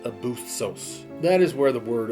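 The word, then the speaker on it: ἄβυσσος: but the actual word was this and it's pronounced abusos that is where the word Abyss comes from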